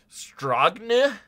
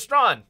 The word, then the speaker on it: Strawn: Like, that's what I read whenever I read your last name, is Strawn. But I could see people going, Stragne? Stragne? My grandma always spelt my name wrong. I've seen every combination of vowels possible at the end of my name. Yeah, I get that. Yeah. Correct! So it is Strawn.